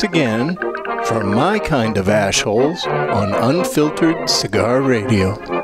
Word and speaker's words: Ash Hole: Pardon my French, but you're an asshole. It's pronounced AshHole. You dumb asshole. Excuse me? It's AshHole.